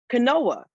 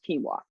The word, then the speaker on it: quinoa: and I said, I heard all about this quinoa. Apparently it has so much protein, almost like you don't need to eat like meat. And he was like, babes, I love you, but it's pronounced quinoa.